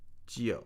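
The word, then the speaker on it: 九: And nine is pronounced Gio.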